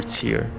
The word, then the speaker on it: tier: And then we can proceed to the tire, to the nice. Told you I pronounced the word tier incorrectly a lot. We can progress to the upper tier of vaults.